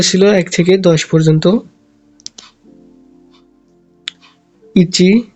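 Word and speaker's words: いち: এটা হচ্ছে itchy. Itchy মানে হচ্ছে এক।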